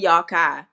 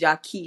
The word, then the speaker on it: Yaki: We say Yakai, but his name is pronounced Yaki Awaken.